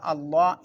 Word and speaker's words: الله: അപ്പോൾ ഓതേണ്ടത് വഇദാ ദുഉ ഇലല്ലാഹ്, അവിടെ അല്ലാഹ് എന്ന് ഉച്ചരിക്കുമ്പം തഫീമായിട്ട് ഉച്ചരിക്കണം.